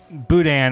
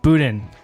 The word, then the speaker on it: Boudin: See, in American, you pronounce all the letters like it's not Boudin, it's Boudin.